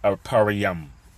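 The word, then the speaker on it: אפרים: But Ephraim would be the Puerto Ricans, and in the Hebrew, it is the Ephraim is pronounced Aparayam, Aparayam, which means I am fruitful.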